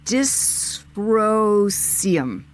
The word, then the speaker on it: dysprosium: I'm going to guess it's pronounced yttrium, neodymium, and dysprosium.